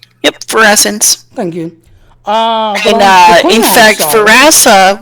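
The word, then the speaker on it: Ferasan: They're not called Cajun, they're called Frasians. Did I pronounce that right? Yep, Pharasans.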